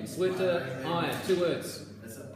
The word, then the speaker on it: Zwitterion: It's pronounced Zwitter. Zwitter. Zwitter. Zwitterion.